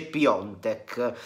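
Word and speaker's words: Piątek: detto questo christophe piatek scritto piatek ma si legge piontek sicuramente sta attirando i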